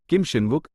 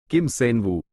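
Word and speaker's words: Kim Seonwoo: मेरा नाम किम शिनवुक नहीं बल्कि किम सेनवू है।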